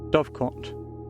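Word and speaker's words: Dovecote: I forgot to check how you pronounce that. Dovecot? Dovecoat? Wait. Dovecot.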